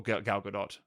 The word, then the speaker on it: Gal Gadot: he's got army hammer and gal gadot or gal gadot I think is the actual way to pronounce it again he's getting a really good